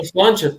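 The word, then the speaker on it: sláinte: in the Irish is slancha probably mispronounce that also no slancha perfect it means cheers but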